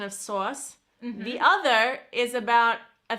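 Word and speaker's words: sås: And in Sweden, you pronounce the word sauce as sauce. Sauce. And it's spelled S-A with a little dot diacritic on top.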